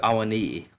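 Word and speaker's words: Awoniyi: It goes I at the end. Like what is that? How do you make that noise? It's knee. Knee.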